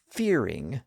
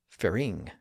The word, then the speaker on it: fearing: fearing with the stress on the first syllable not the second fearing not fearing but that's the opposite of